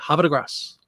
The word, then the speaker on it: Havre de Grace: And somebody said, you say it really quickly. Havre de Grace.